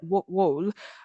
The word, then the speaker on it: Vold: Richard V or that's my German pronunciation but it's probably Americanized as like wool um in a uh in 1956.